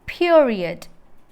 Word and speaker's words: period: It is period. നമ്മൾ പറയുന്ന പോലെ പീരീഡ് എന്നല്ല. It is period. That is the correct way to pronounce period.